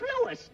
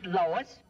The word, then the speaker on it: Louis: the plant Lois Lois me name is leis not Lois J W everybody in toates me name wrong it's leis l o u i s Lois uh Louise Lucy